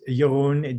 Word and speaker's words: Jeroen: It's Jeroen, Jeroen, and then my affirmation is love. So, phonetically in American, you would say Jeroen is love, or how Starbucks addresses me is Jeroen is love.